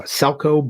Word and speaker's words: Selco: who wrote it uh salco bergovic that's with the c not with the ch like we would pronounce it uh so he is